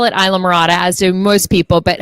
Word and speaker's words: Islamorada: spell the island okay well i call it isla morata as do most people but hiro tell them